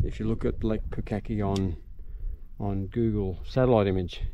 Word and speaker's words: Pukaki: End of Lake pukaki kukaki turn that wrong name wrong it's pukaki and we're right at